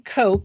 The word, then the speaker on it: Coke: So joining me is Justin Coke, and I'm presuming that's pronounced just like the soda.